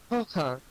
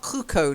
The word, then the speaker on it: croquant: like French, yeah, we use the word, and we've kind of kept the French pronunciation for that one. As you know, that's not always the case with French words in English, like menu. We don't use the French pronunciation, but for croquant, we do. Almost, yeah, not cruco, no. Did you hear cruco? Traum, wash your ears out, Traum. Cruco? No, croquant. Croquant. I heard.